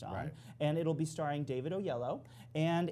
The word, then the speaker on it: Oyelowo: David Oyelowo.